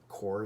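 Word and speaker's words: coir: at the garden center core is spelled c-o-i-r okay and you put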